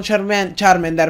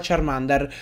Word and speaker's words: Charmander: cazzo però insomma siccome tutti lo chiamano charmender ma è sbagliata la pronuncia di charmender adesso io lo pronuncerò Charmander in ogni caso signori